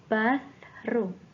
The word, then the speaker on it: bathroom: Yes, bathroom. The way you pronounce TH ya, cara mengucapkan TH-nya seperti mengatupkan gigi, kemudian lidahnya di tengah-tengahnya. Bath. Bathroom.